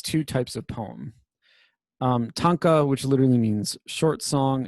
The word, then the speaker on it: tanka: right there short song it's pronounced tanka this is at the